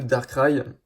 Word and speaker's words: Darkrai: Ensuite, on a donc le Darkrai, ou le Darkrai, je sais pas, il y a beaucoup de gens en France qui disent Darkrai, mais moi je prononce ça à l'anglaise.